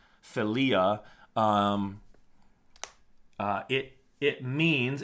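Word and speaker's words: philia: I L I A it's not filia the accents on the second I so it sounds f filia um uh it it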